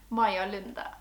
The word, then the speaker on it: Maja Lunde: all about the wonderful Maja Lunde. So as you may be able to tell by the way that I say her name, Maja Lunde is Norwegian. She was born in 1975